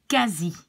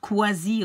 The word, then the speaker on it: quasi: QU, together, you pronounce like a K. And don't say the U, because I hear people trying to pronounce something like qu, but it's not. Like if I have this word, you will pronounce it like quasi and not quasi or something like that.